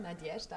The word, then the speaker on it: Nadeshda: Nadjeschda Brennicke, habe ich es richtig ausgesprochen? Nadjeschda, ja, freut mich.